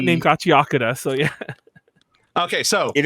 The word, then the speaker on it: Gachiakuta: I think I said it right. It's funny. The only reason I stumbled on it was because I was saying it right, and I was confusing myself in my brain. And I was like, no, it's not Gachiakuta. But yeah, Gachiakuta. So, by the way, what